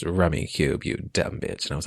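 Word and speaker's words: Rummikub: in this movie never okay it's it's called rummy cube it is basically rummy uh like the card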